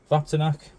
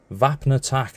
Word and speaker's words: Vapnartak: walk on but no vapac vapac I've butchered the pronunciation again vapnatak not vapac Jesus man VAP attack 2025